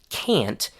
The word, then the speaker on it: can't: on the other hand, with can't, we do hear the short a sound. Listen to it. Can't. However, there's still one important difference between the book pronunciation and the realworld one, which is that the final T sound changes into a stopped partial pronunciation of the T.